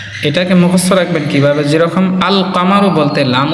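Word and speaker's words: القمر: যেরকম আল কামারু বলতে লাম উচ্চারণ হয়।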